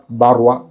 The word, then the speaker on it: Barrois: ഇതിൻ്റെ പേര് പലരും തെറ്റിച്ചാണ് ഉച്ചരിക്കുന്നത്. യഥാർത്ഥത്തിൽ ഇതിൻ്റെ പേര് മാർക്ക് ആന്ത്വാൻ ബാർവ ഗാനിമെഡ് എന്നാണ് പെർഫ്യൂമിൻ്റെ ഫ്രഞ്ച് ഉച്ചാരണ ശൈലിയിൽ പ്രൊനൗൺസ് ചെയ്യേണ്ടത്.